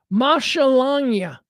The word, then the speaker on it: maschalagnia: See, it's Lagnia. So you got to pronounce Lagnia. Langnia. Langnia, right? So the first part is Masha. Maschalangia.